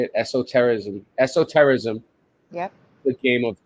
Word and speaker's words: esotericism: How do you spell that? How do you say it? Esotericism.